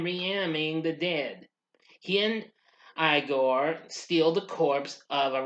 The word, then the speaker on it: Igor: Upon hearing that the professor pronounces his name Frankenstein, Igor insists that his name is pronounced Igor rather than the traditional Igor.